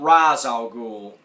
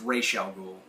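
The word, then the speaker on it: Ra's al Ghul: Strange and uh you've got R alul not Raz alul re Al it's pronounced Rell ghoul and talia's in there and of course you've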